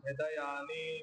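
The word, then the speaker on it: हृदयानि: राष्ट्राना सघोषो धार्त राष्ट्रानाम हृदयाने व्यधारयत हृदयाने व्यधारयत आता चुकीचा उच्चारण केलं मुद्दाम म्हणजे मीच केलं तर हृदयाने मध्ये छोटा विकार आहे त्याला छोटाच म्हणायचं हृदयाने व्यधारयत लगेच म्हणायचं हृदयाने हृदयानीय सघोषोधार्थ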